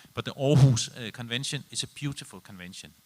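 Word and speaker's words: Aarhus: convention and I'm want I'm one of the few people who can pronounce it because orus is a Danish town and I'm from Denmark but the orus convention is a beautiful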